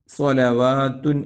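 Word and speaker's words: صَلَوَاتٌ: സ്വലാത്തുൻ എന്നും ഉണ്ട് ഇവിടെയുള്ളത് റഹ്മ സ്വലവാത്തുൻ എന്ന് വാ വാവിന് ഫത്ഹ് എഴുതിയിട്ടാണ് നീട്ടാനുള്ള ചെറിയ അലിഫ് കൊടുത്തിട്ടുള്ളത് അതുകൊണ്ട് അത് നന്നായി ശ്രദ്ധയിൽ വേണം 171 ആമത്തെ ആയത്തിലേക്ക് 171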